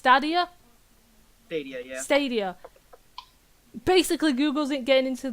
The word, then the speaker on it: Stadia: this Google's oh this is where I'm gonna pronounce it right it's studier stadia basically Google isn't getting into the [ __